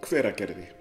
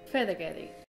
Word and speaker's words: Hveragerði: Hveragerði. Hveragerði.